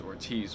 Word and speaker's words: Ortiz: Anyway, Jessica Ortiz, who, I only know how to pronounce the name, not because of, like, intuition saying that it's pronounced Ortiz, but because my dumbass, like, had to look